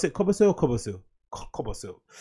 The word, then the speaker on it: Kobosil: How do you pronounce it? Kobosil or Kobosil? Kobosil.